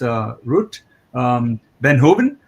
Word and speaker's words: Ruut Veenhoven: I just got corrected yesterday when I was pronouncing it as Ruut. It's Ruut Veenhoven.